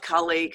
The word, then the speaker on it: Kali: Octavia, and Kali, or Kali, how do you spell it? How do you say Yeah, your name? Kali.